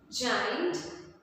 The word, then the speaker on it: giant: Here you can see that somewhere we have pronounced G as J, and in some spellings we have pronounced G as G, and we have pronounced J as J. So G and J both are pronounced as J, and sometimes G is pronounced as G.